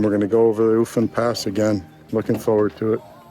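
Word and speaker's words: Ofen Pass: Ufan Pass? Ufan Pass? Is that how you pronounce it?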